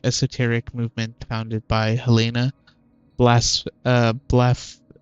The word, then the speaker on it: Blavatsky: So that's how you pronounce that name, Blavatsky.